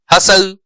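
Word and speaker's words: hustle: ठीक है, टी, कहां कहां टी साइलेंट है, ऑफन, डेब्यू, डिपो, बसल, है ना, हसल, ठीक है, हैसन, तो ये जो है इसमें जो है वो टी साइलेंट है।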